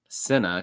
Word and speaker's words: Cinna: Cinna. She said it's like cinnamon, so now I know how to say it right.